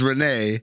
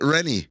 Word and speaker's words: Renee: up this guy's name is Renee but they pronounce it renie is that a Canadian thing maybe renie include we're